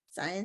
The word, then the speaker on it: Scientia: Am I pronouncing it correctly? Scientia?